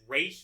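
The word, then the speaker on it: Ra's: Side note, I know that ROS is technically more accurate to how it would be pronounced in Arabic, but DC has pronounced it race for so long in various adaptations that Ros just sounds wrong to me.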